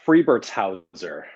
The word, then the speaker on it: Friebertshauser: It's Friebertshauser, real long Okay. German name. Friebertshauser.